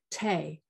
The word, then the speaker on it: tea: cancel take and sometimes Tay Tay in that period was the T was probably pronounced it's like bohay is one of the the names of a type of tea from that period And I hope some